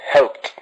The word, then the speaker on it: helped: helped the last one helped but as you can see helped like a chess sound at the end helped don't you think like what help it's the same sound as you can see